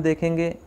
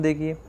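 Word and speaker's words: the: द के 2 उच्चारण होते हैं, द और दूसरा दी।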